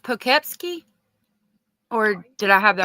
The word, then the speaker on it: Poughkeepsie: Yeah, is it pronounced Poughkeepsie?